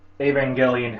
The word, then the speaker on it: Evangelion: like a a Clare imagine that the word Evangelion has an ax on auu over the first e and remember it's pronounced with a hard G instead of a soft G like evangelist aangel Neon Genesis Evangelion Evangelion unit 1 Ava unit